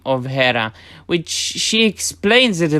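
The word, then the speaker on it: Héra: i told her we were stuck it's actually hera i get a quick pronunciation lesson and discover the air functions uh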